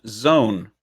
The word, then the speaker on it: Zoun: five to four uh zoun is pronounced zone apparently wow i had no